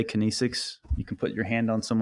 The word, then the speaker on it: kinesics: Is that how you pronounce it? Yes, kinesics.